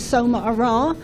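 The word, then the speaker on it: Somarah: Um but I'll start by saying my name which is S Ara which I was given a few years ago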